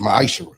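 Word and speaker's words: מעשר: Malachi chapter 3 8-10 means 10th in Hebrew it's pronounced misher 10% of every penny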